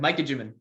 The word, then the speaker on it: Micah Juman: on because I I I think I I butchered your name when I was introducing you before you came on oh good Mikey jimin oh okay well you said it right I